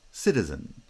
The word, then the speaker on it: citizen: Citizen, citizen, cita. There are two light syllables, cita, cita. Stress is on the first syllable because it's the strong syllable in the foot. And then that post-foot syllable is also unstressed.